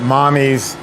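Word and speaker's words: Mamis: um she pronounces it mommy's gelato m-a-m-i-s uh that's Italian m-a-m-i-s is Italian for Mommy and Naomi Posner is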